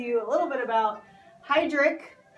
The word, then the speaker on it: Heidrick: a little bit about heidrick pronounced Heidrick & Struggles they are